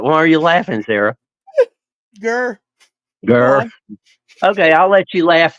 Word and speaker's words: Greer: It is spelled Greer, but the locals pronounce it Gurr.